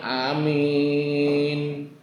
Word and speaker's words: amin: Ada juga yang amin. Amin berarti A-nya pendek, min-nya panjang.